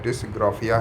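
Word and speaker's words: dysgraphia: कहीं लिखा होता है लेकिन ज्यादातर है डिसग्राफिया ही इसका सही उच्चारण है दोस्तों बात करेंगे गणतीय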